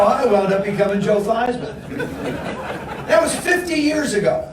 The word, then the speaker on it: Theismann: we think by just simply changing the pronunciation of your last name from these men to thighs with dry mouth Heisman we guarantee you that trophy that's how I come in Joe Theismann that was 50 years